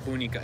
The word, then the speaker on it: bunica: The homemade prune jam from Anna's farmhouse with her bunica, mamaya. Not bunica. It's bunica. Pronunciation challenge, Bunica. Bunica.